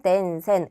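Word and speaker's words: 伝染: 그래서 덴센이라고 읽습니다. 전염은 덴센, 음독이에요.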